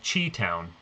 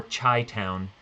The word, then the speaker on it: Chi Town: This is one of the big ones, which is called Chi Town, or Chi Town. I always pronounced it Chi Town because of the ninjas and super spies.